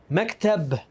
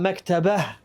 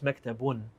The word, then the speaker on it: مكتب: Maktab, not maktabah, right? Maktab. Well, I mean, if you want to get technical, it's maktabun, but we stopped on there.